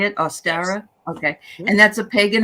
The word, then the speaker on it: Ostara: ostara yes is that how you say it austera okay and that's a pagan holiday which is